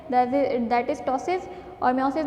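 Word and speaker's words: ptosis: टॉसिस के अंदर पी जो है वो साइलेंट होता है बेटा, और लैक्रिमेशन है, पेन है और नेजल डिस्चार्ज है।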